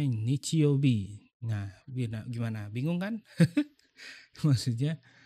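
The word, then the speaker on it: 日曜日: Nah, ketika ini disambung dengan huruf-huruf ini, maka ini dibacanya nichiobi.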